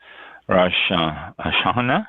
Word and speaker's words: Rosh Hashanah: And today is first day of Rosh Hashanah, is how it's pronounced.